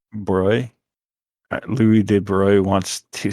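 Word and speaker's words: Broglie: luge louis d wrote how do you say his name sorry it's a broy basically broy louis de bruyne wants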